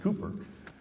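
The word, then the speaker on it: Cowper: uh uh it's spelled cper but it's actually pronounced Cooper said he works in mysterious ways his wonders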